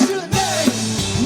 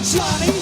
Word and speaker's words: Janae: at me and said, my name is pronounced Janae, not Johnny.